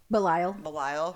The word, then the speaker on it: Belial: She compares Bones to Belial. Is that how you say his name? The demon? Belial, yeah.